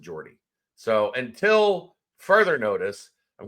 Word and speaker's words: Jordi: Depending on where you're from in Spain, it's either Jordi Rodriguez, if you're from the Catalan-speaking area of Spain, or the Spanish-speaking areas of Spain, it would be Jordi Rodriguez. But I think where he's from, they pronounce it Jordi.